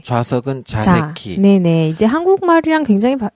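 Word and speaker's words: 座席: 좌석은 자새끼. 네네. 이제 한국말이랑 굉장히 발음이 이제 연관성이 있어요.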